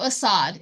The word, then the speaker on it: Assad: vacation you know what I mean okay so Assad is that is how you say his name